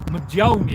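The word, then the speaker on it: Mjölnir: A lot of people I see a lot of people on Tik Tok, they don't quite get the pronunciation of this correct. So, it's Majia. It's got an MJ at Majia.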